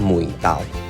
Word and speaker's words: mùi tàu: Basically, the pronunciation of "Eryngium" in Vietnamese is "ngò gai" ~ This is the pronunciation of South Vietnam. In North Vietnam, it is called "mùi tàu ".